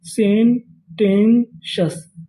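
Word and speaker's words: sententious: सेंटेंशस।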